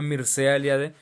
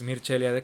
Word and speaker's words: Mircea Eliade: Zimmer, como Mircea Eliade, o se escribe Mircea Eliade, pero tengo entendido que es Mircea Eliade, que es el titán del estudio de las religiones.